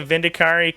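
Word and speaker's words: Vindicare: I heard someone say Vindicari like 10 years ago, and it stuck in my head because I thought it sounded cool, and it locked in as the correct pronunciation, and then some people are like, why are you saying it like that? It's Vindicar.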